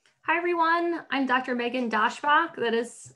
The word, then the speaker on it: Daschbach: Megan Daschbach.